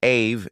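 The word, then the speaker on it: אב: People often get confused when they assume that the word Abba comes from Greek. Linguistically, however, it is not Greek at all. The basic form ab, pronounced ave in Hebrew, comes from the ancient Semitic world, most clearly in Hebrew and Aramaic.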